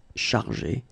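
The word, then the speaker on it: chargées: In both cases, you don't pronounce e and you don't pronounce s. So it will go like chargé, okay, for all the versions.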